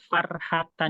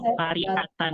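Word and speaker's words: فَرِحَةً: Farhatan. Ini Farhatan ya? Iya. Yang betul itu Farihatan ya. Baru mau ngomong satu Farihatan, kenapa itu Farhatan ya? Fariha. Ya, Farihatan. Ini bacanya Farihatan.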